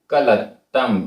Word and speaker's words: कलत्तम: कस्स, आधा सा पूरा सा, कस्स, कस्स, वी, वी, दुट्ठ, आधा टा ठ, दुट्ठ, कलत्तम, आधा ता पूरा ता, दुट्ठ कलत्तम, दुट्ठ कलत्तम,